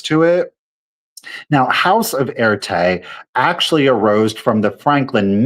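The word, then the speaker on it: Erté: So again, Roman de Tirtov was Russian, who went by the moniker Erte, which was the phonetic French pronunciation of his initials, RT, to avoid embarrassing his aristocratic Russian military family.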